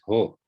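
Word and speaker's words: ὁ: When you see the Omicron standing on its own, you know it is ho. It can't be o. The breathing mark points that way. And so o never stands on its own. It's always ho.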